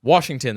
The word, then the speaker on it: Washington: milk it's an ie it's Washington there's no r in it damnn it all right